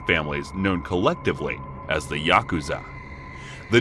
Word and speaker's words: Yakuza: The rules of the game are fairly complex, but the worst possible 3 cards to draw are 8, 9, and 3, pronounced Yaku-za in Japanese.